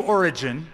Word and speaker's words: Origen: From one source that we have, Origen, that's spelled O-R-I-G-E-N, Origen, and Origen, let me explain who he was one of the early church fathers from the second century.